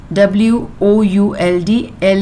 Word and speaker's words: would: a by a Dre was sick and wood w-o-u-l-d-l is silent so you have to read it as